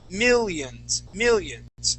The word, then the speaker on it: millions: So this short I sound is found in the word millions as well as religious. So here you had said millions using a millions. So instead of pronouncing an E sound there, we're going to say millions.